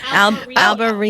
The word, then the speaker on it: Albariño: Albariño. Albariño. Because the Enye.